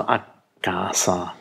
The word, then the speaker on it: a casa: nicht der Fall ist, also a casa ist die richtige Aussprache mit einem langen K.